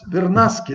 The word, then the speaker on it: Vernaschi: É Vernasque, né? Vernasque, isso. Eu pronunciei Vernasque, Não, mas não tem problema nenhum. Vernasque, com CH, né? É com CH, italiano, né?